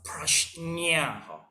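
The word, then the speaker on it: prajñā: We pronounce these words as a prajna. Prajna. So the nya is exactly same with the baba nyonya.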